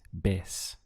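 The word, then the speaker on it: vez: we have otra and remember this v carries a b sound in spanish so the pronunciation is bes means again now how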